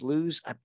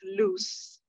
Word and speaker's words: Luz: is from Charlotte loves lose I'm terrible at names but I just want to say hi I haven't seen her before so good morning to you and good morning um actually pronounced loose loose I love it but